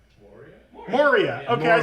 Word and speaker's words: Moria: is our Lord of the Rings expert we pronounce low the card lower the card m o r i a Mor Moria okay I said it right the first time okay Moria Marauder not Mariah Marauder that's what they called me at the